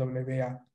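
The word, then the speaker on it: は: Esta es ha y se debería escribir HA, pero se va a pronunciar wa cuando está en función partícula.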